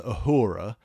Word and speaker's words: Uhura: And what I really like, going on to Uhura... Did I call it Uhuru? You called her Uhuru. So, never mind. Sorry. Rhymes with the yazoo. Yoo-hoo glue. Well, you very politely corrected me. With just Uhura.